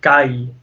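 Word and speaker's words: كَيْ: And again, that's huruf al-lin, which means we'll have to pronounce it kai. Okay, we pronounce it kai because the ya will make an e, kind of a low e sound, and the fatha will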